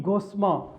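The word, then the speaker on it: gossamer: Next for, अच्छा यहाँ फॉर the only गोस्मा, फॉर the only गोस्मा कहते हैं कपड़ा, बारीक कपड़ा, गोस्मा, इसमें आर साइलेंट है, गोस्मा बोला जाएगा, गोस्मा।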